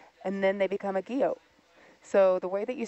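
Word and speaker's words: guyot: weathering and erosion and then they become a Geo so the way that you spell it is for those who wants to to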